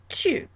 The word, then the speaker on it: tu: I will call you tu, tu. Notice that that is pronounced just the tiniest bit differently from in Spanish, which is more like tu. This is it really has a ya sound in it.